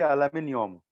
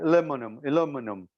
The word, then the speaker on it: aluminium: There are different way how to pronounce aluminum. Arabic we say aluminium. English they say, or American they say aluminum.